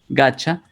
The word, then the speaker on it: gotcha: Gotcha significa, es como I got you. Es una manera de pronunciar esto, gotcha.